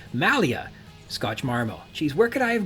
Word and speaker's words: Malia Scotch Marmo: draft of the script it's not Maria Scotch marmo it's Malia Scotch marmo she's where could I